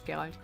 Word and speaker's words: Geralt: It's actually like a German pronunciation is Geralt that he's the last generation.